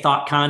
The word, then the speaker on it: Thotcon: because it's sort of you could say thought con and it sounds like thinking and ideas um and a conference but then it's not spelled that way right it's spelled different um and um and